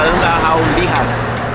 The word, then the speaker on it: Andahuaylas: É difícil, se escreve Andahuaylas. Mas se fala Andahuaylas. Pelo menos foi o que o pessoal nos ensinou aqui.